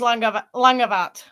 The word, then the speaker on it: Langavat: So it would be pronounced Langavat. Similar-ish. So, because BH is V in Gaelic.